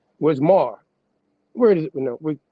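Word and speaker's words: מר: It says the Mishnah Hebrew through the day, this Aramaic word is pronounced mar, with an A first, mar.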